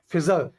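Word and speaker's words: fissure: फिजर, और इसका साइन होता है क्रैक और ग्रूव। ठीक है? इसका लिंक हमने क्रिएट किया इसके प्रोनाउंसिएशन से। फिजर यानी कि फीस सर।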